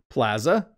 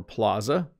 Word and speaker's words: plaza: from the spanish though plaza or plaza interesting isn't it we have two pronunciations of this word in north america a plaza is usually